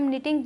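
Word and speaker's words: knitting: फिर आता है निटिंग इन्हें हम निटिंग पढ़ेंगे के साइलेंट है टिंग एक ऐसा प्रोसेस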